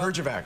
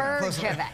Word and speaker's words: Herjavec: Herjavec. Herjavec. But I express my admiration. Spell it. Pardon me? Spell it. H-E-J. No. Closer. Herjavec.